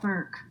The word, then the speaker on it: Bourque: So is it Bourque? How do you say your first name? It's actually just Burke. Oh, Burke. Okay, cool. But that QUE, that's no way I'm gonna. That was my mother's maiden name.